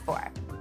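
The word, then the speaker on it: phở: going to go nuts for now let's get started with our vegetarian noodle soup this tasty recipe is actually inspired by a classic Vietnamese faux or F depending on how you prefer to pronounce it a homemade faux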